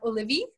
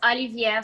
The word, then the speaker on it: olivier: She's asking, will you have olivi, the Russian potato salad, at your wedding? Did I say it right? No, it's olivier salat.